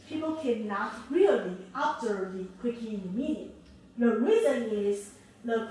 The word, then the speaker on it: Criegee: researcher, he's German, so it's rather for Criegee, but in German it's called Criegee, okay, rather Criegee.